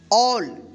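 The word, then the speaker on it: all: A double L है तो क्या पढ़ेंगे इसको? ऑल यानी ए के जस्ट बाद डबल एल रहे तो क्या था रूल? उस ए का औ उच्चारण होगा। ठीक है?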